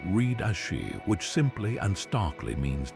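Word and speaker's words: 死: The first character I as Chinese letter read as she which simply and starkly means death.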